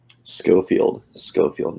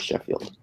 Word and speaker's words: Schofield: Schofield, not Sheffield. There's an H in there.